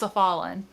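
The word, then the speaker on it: s'Ffalenn: In the audiobook, it's pronounced Cephalin.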